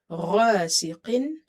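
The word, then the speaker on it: غاسق: Sheen is from the ikhfa letter, so you will say wa min sharri ghasiqin. Ghain is heavy, it's from the musta'aliya letters here. Qaf is heavy, it's from the musta'aliya letters. Ghasiqin. Idha, idha, idha.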